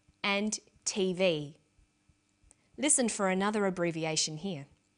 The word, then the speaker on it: TV: with a read-only memory notice that each letter in the abbreviation is pronounced separately but the last letter is pronounced more strongly because it carries the primary stress so we say usa